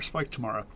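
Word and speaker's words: Spike Tamara: If any of you are curious, my name is Spike Tomorrow 2014, but I usually go by Spike or Tomorrow or Spike Tomorrow. That's how you pronounce it.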